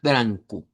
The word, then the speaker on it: branco: el color eh blanco lo vamos a pronunciar como blanco, eh con eh una anasalizada con la n al final, branco.